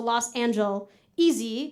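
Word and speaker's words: Los Angeleasy: So it's spelled like Los Angeles, but easy, EASY. So Los Angel, easy.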